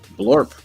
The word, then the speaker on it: Blorp: And this is Blorp. This is his sidekick. Blorp. Blorp. Yep. So I was like, I should do a side story that's called Blorp the Brave. Is it Blorp? Blorp with a B.